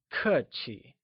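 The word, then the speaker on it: 客气: at polite in Mandarin polite literally translates to cut Qi where kur is pronounced using a falling tone and Qi with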